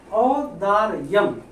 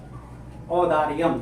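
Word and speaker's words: औदार्यम्: औदार्यम मतलब औदार्यम का मतलब होता है उदारता, ठीक है, उच्चारण सही करिएगा। औदार्यम जयदेव जय दिवस्य औदार्यम मतलब जयदेव की उदारता।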